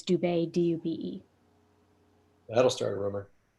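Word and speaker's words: Dube: my name spelled wrong like you have it spelled like boude but it's dubai d-u-b-e that'll start a rumor and then just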